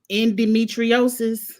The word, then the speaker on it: endometriosis: She opened up about, Lord, I'm going to say it wrong, endometriosis.